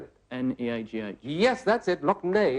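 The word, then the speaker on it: Lough Neagh: Loch Ney, it's pronounced, but that's the one.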